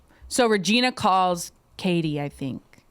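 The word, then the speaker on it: Cady: So Regina calls Katie, I think. Katie, that's my ex-girlfriend. But it's spelled like Caddy.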